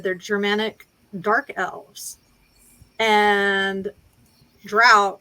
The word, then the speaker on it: Drow: They're Germanic dark elves, and Drow is how you pronounce. Is basically how the Germanic word is pronounced.